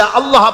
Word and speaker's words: আল্লাহ: বলে না আল্লাহ আল্লাহ পাকের উচ্চারণটা হচ্ছে আল্লাহ পাকের নাম হচ্ছে আল্লাহ মুখটা একটু গোল হয়ে যাবে বলেন আল্লাহ